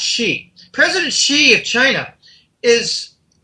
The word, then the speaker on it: Xi: he she it exi is pronounced she president xi of china